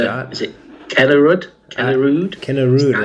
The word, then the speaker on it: Kennerüd: Kennerüd is, I think, Skycaptain. how I'd pronounce it, but I mean, I'm not German. Yeah, That's an umlaut over the U there.